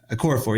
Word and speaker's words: Okorafor: And then, of course, Atachu as well, getting himself against Okorafor, or I can't remember how to say his name all of a sudden. Okafor? Okorafor, yeah.